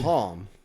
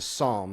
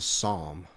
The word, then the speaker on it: Psalm: you called it a palm it's it's a Psalm the p is the p is silent it's a Psalm PS hang on hang